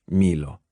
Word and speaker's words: Milo: She pronounced it in Spanish, Milo, like I preferred, as she waved a hand in my direction.